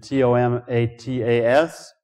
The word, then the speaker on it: tomatas: The tomatoes were spelled by Jefferson T-O-M-A-T-A-S, suggesting he was pronouncing it like tomatas.